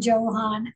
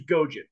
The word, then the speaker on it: Gojan: background for us I don't have one Johann uh or Gohan um Steuben's great guy GM tell me to pronounce it right again uh well the last name's gojin yes why I can't get that good morning